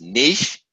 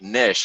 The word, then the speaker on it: niche: The first one is niche, like sheesh. The other way to pronounce it is like niche, like a fish, right? And my personal favorite is niche, kind of like stitch.